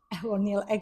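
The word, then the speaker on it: ECONYL: So Melissa, no, Camden before talk about Econil, but you have another pronunciation like Egonil. It's like Italian Econil.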